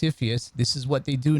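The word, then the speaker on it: CFIUS: commonly pronounced epheus this is what they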